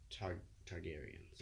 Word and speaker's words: Targaryens: not I wouldn't say a bit foggy, the Targaryens.